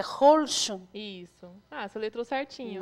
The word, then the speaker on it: Holschuh: Qual é a pronúncia? Magda Blanco Holtio. Não é difícil, né? É Holschum.